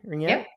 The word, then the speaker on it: ringette: Ringette?